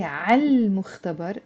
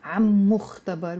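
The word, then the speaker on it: عالمختبر: That's why I have to pronounce the L sound. I have to say عال مختبر, and ما نقول عم مختبر.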